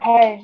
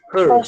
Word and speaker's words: hers: Seria hairs, né? No caso, hairs. Hers, tá? A gente pronuncia hers.